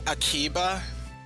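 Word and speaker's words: アキバ: Or or you could just shorten it to Akiba.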